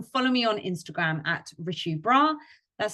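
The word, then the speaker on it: Richu Brar: My name is Richu, and you can follow me on Instagram at Richu Bra. That's spelled RICHUBRAR.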